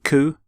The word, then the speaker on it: coup: the pronunciation of cou you don't say the P you don't sound the P at the end C here's the your